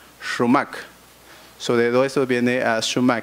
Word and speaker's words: XumaK: significa florecer significa fluorescencia se escribe con existir de dos tiles en la x y se pronuncia realmente romak sobre eso viene a